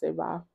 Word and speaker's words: seva: what some of us call seva or seva, depending on how you pronounce it. I pronounce it seva.